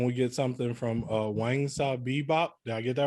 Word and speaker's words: Wangsabib: um and can we get something from uh wang bebop did i get that right yeah that's actually the closest anyone's ever pronounced that off of first seeing it okay yeah my name is um i'm a cosplayer i've been cosplaying knowingly